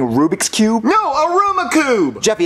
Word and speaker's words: Rubik's Cube: daddy that's not a Ruma Cube that's not what I wanted yes it is Jeffy that's a Rubik's Cube you're just saying it wrong I never said I